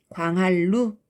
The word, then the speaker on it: 광한루: 광한루지만 광할루 이렇게 편안하게 발음한다는 거죠.